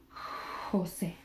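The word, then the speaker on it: José: Or the same as Jose. H. Jose. So the J just has a much more sound, okay?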